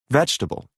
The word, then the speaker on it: vegetable: pronunciation pronounced fouls part a listen and practice the vowel immediately after a stressed syllable is sometimes not pronounced average different separate comfortable interesting vegetable okay very good now if